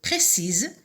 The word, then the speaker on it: précis: Alors, précise au masculin, on va dire précis, précis. Et la lettre finale muette, c'est le S qui se prononce au féminin, mais au masculin qui ne se prononce pas.